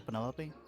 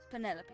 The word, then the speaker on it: Penelope: for Penelope? Officially, yes, but okay. I never can be bothered with all 4 syllables of it. Penelope sounds a little ostentatious coming out of the mouth, don't you think?